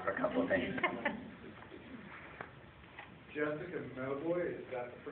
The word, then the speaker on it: Jessica Mauboy: Jessica Mauboy, is that the pronunciation of the Yes.